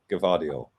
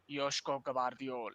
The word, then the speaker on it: Gvardiol: Gvardiol. Gvardiol. Gvardiol.